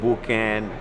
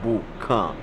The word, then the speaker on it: Boukan: the name a lot of people call it booking you know but the real pronunciation is Boo come Buca means campfire it means the fire pit